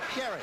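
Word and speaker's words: Gerry: there with Gary Ellis he pronounces it he spells it Jerry pronounces it Gary and the line of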